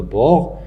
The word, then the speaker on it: bord: Le bord, je ne prononce pas le D, mais je dois utiliser le D dans l'écriture.